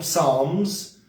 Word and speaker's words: Psalms: Psalms. The P is silent.